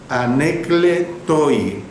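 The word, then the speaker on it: ἀνέγκλητοι: Y número 3, irreprensible, es la palabra griega anekletoi. Se lo repito, irreprensible, la palabra griega anekletoi, o sea, con K cuando pronuncio la sílaba cle, ¿ve? Y sin H.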